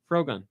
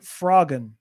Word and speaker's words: Frogun: Frogun. I would have called it Froggun Okay, because the gun is a frog.